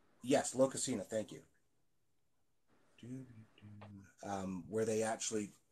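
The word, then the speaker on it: Lokasenna: Oh, I have no idea how to pronounce that. But there's a story in the poetic Eddas. Locusina? Yes, Locusina, thank you.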